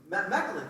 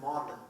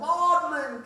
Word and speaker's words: Magdalen: in college excuse me model megalin College oh I think you guys pronounce it modlin oh modlin College I pretend like